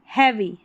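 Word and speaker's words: heavy: TRY को ट्राई पढ़ते हैं, ING लगा है तो trying to carry, carry a हैवी, हैवी पढ़ेंगे, ए का उच्चारण है यहाँ पर EA का, तो हैवी, हैवी।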